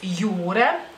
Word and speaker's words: jūra: palabra jura en español, solamente que tiene una rayita sobre la U y la J se pronuncia de otra manera, obviamente. Y entonces mar es jūra.